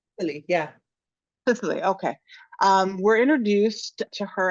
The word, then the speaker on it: Cicely: If you could help us understand the extremely complex character, I said Sicily, but am I pronouncing that correctly? Really, yeah. Cicely, okay.